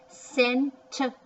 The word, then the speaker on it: center: That's another soft C because it's got a E with it. C and an E. C usually doesn't like E. Center. ER says er.